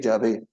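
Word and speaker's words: Yahweh: en hebreo se le se escribe y H W H pero se lee Ya ve Jehová es una palabra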